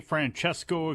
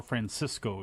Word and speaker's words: Francesco: so that's the show did you say Franchesco Aira or Francisco Akira it's like San Francisco yes that's how you pronounce it Mike don't question me